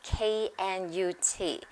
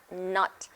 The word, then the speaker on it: Knut: 歡迎你哋嚟到 Maria 英文讀書會，同你哋分享 Harry Potter 另外一個冷知識啊！喺 Harry Potter 嘅 Wizard World 裏面嘅貨幣，其中之一個係 KNUT，咁好多人都會讀 nut，但係根據 J.K. Rowling 個 K 係應該要發音嘅，所以其實應該係讀 knut。好，今次我哋繼續同你哋讀 Harry Potter and the Philosopher's Stone by J.K.